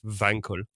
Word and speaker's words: Wankel: very much aware that it's going to be pronounced vancl or something like germans but no i'm calling him wankel because that's that's that's what people call the engine that's what people know him as he's mr wankel so that's what we'll